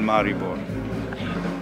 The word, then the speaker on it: Maribor: sure I'll have many more funny stories of Maribor. Los Cubanos Postizos in Maribor. So, did I pronounce it correctly?